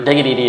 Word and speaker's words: Diggity: i went up to xdiggity or diggity is how you're supposed to pronounce it but that's why i